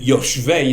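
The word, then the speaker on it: יושבי: It's clear from the other words in the text that Yoshvei is the right way to say it.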